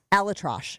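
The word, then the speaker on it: ElAttrache: Alatrosh is how you say his last name.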